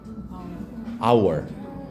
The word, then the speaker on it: hour: 타임 말고 한시간 할 때 시간 hour 분명 시작은 h죠?